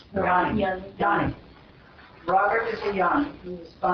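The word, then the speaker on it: jnani: Pronunciation. Yanni? Yanni.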